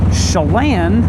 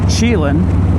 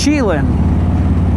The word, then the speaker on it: Chelan: Chelan, I used to pronounce Chelan, because that's how I read it.